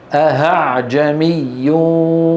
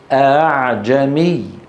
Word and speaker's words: أأعجمي: الخطأ الثاني اللي ممكن يقع فيه المتكلم أن يبدلها هاء فيقول أهعجمي وعربي. هذا خطأ خطأ خطأ خطأ. انتبهنا؟ أهنذرتهم، خطأ خطأ خطأ. انتبهنا؟ نرى على اللوحة تسهيل الهمزة، هو النطق بالهمزة المسهلة بين الهمزة المحققة وحرف المد المجانس لحركتها. إن كانت مفتوحة ننطقها بين الهمزة المحققة والألف مثل أعجمي.